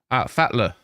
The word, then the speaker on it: Fatler: Fatler is how you say it. Okay. No worries, Fetler.